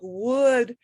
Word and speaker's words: would: that you have to do okay and it's pronounced kind of like wood like the wood in a room um i've